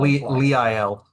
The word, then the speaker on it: Lyell: For those of you on that, Lyell, is that how you pronounce it? Lyell? Lee IL. Lyell. Yep.